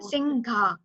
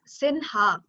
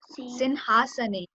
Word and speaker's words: सिंहासने: It's not Singha. It's Sinha. Sinhasane.